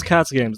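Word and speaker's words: KacGames: sounds like it's because k a c g a m e s so that's Cats games that's my YouTube channel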